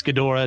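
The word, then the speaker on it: Ghidorah: Godzilla Mothra King G I know it's gadora don't at me I pronounce it g giant monsters all out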